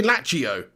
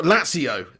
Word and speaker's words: Lazio: you're pronouncing latio wrong it's a zed not a t so i've been saying did i say lachio yeah okay well lazio i know i said